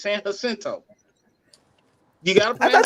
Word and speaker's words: Jacinto: call it San Jacinto. It's San Jacinto. You gotta I thought pronounce the it J, properly. yes, I thought the J wasn't pronounced right. It's It's an pronounced H, as an H, As an H.